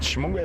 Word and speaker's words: Xingmhugwe: But Shimungwe is quite a difficult spelling. I'm going to try for you now. It starts with an X.